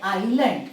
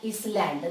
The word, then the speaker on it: island: away now this word island don't pronounce is that island no it is island island but here the meaning